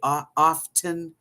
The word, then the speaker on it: often: How do you say often? You don't say the T. It's often.